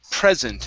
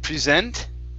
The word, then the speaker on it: present: word here is okay present instead of present okay stresses at the very beginning present present okay so